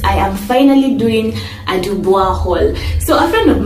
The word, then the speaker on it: Dubois: And also because I did French, I happen to know that there are certain names that have that O-I that are pronounced as wa, like Francois. So saying Dubois for me just seems very off.